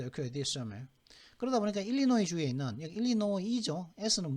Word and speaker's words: Illinois: 아칸사, 일리노이, 캔사스는 S, 그죠? 매사추, 텍사스. S로 끝나는 주는 지금 5개 주가 있거든요. 아칸사스 부르는 아니 아칸사라고 하거든요. 그다음 일리노이스가 아니라 일리노이까지만 발음하면 되는데 이건 아칸사죠.